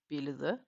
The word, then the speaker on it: billede: And a soft D is, you can hear it if I pronounce the word of billede. It ends on a DE. But technically, the Danish soft D, you can pronounce it the same way if you just say in English the, like the house, the cat.